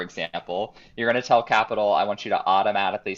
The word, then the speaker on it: Qapital: It's called Capital, Qapital. I used to Okay. call it Quapital all the time, but I guess they pronounce it Capital, Okay.